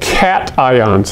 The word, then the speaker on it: cations: charged and so technically they are called cat ions that's not a weird word cations looks like cations doesn't it and that's the problem